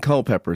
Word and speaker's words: Culpeper: Stevens's Episcopal Church in Co pepper Virginia Co pepper right is that the how I pronounce it yeah that's correct what what's in Co pepper tell me like what